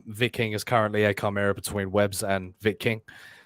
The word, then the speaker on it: Chimera: Vic King says, Manticore are laughing at the Chimera. Ironic. Yes, the world is full of irony, Vic. It's pronounced Chimera, Manticore. Yeah, I like the sound of Chimera better. No, it's Chimera.